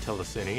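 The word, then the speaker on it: telecine: it features an inverse telecity mode I'm pretty sure it's pronounced telesini as it seems to combine television and Cinema which is kind of what the word basically means oh well who cares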